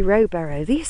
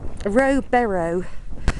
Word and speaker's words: Rowberrow: I've got here Rowberrow, or Barrow. It's Barrow. It's spelt Barrow. Rowberrow.